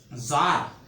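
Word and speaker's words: czar: Word put करी छॾो, ज़ार, ही शायदि वर्ड तव्हां ॿुधो हूंदो या न, ज़ार माना बादशाह, ज़ार नहीं है इसका मतलब। ज़ार ही सी साइलेंट है, याद रखियो।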